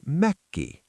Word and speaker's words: mökki: The word for a summer cottage is Mökki. Leo, give me Mökki.